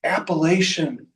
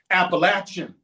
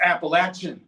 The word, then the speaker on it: Appalachian: It's Appalachin Mountains. I throw an apple at you or you got an itch. You got to scratch them. It's Appalachin Mountains. I said, "Okay, apple." Close. Appalachin.